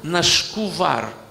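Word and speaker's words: נשקו בר: Но в иврите написано нашкувар. Именно от слова, как бы, отклонение происходит от неправильной интерпретации слова бар. Дело в том, что когда в словосочетании нашкувар, дагеш уходит, поэтому читается мягко. Не бар, а вар.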